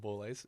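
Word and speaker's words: Borlase: Boulays, yes.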